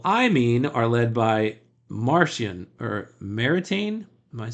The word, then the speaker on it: Maritain: It's pronounced Maritain, with a soft N at the end, since Jacques Maritain was French.